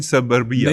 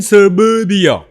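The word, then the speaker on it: Suburbia: Murder इन सबर्बिया नहीं गलत कह रहे हैं आप। मर्डर इन सरबर्बिया। मर्डर इन सबर्बिया।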